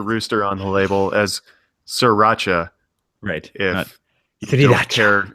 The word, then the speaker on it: sriracha: where they get the guy saying no it's pronounced sriracha and i can't tell if they're making a